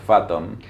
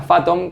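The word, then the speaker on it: Fathom: automático Pero esta que encontraste vos que es phatom Sí por eso entonces lo que hice ahí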